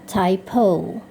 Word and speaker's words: typo: Nah, kalau dalam bahasa Inggris dia seharusnya dibaca typo.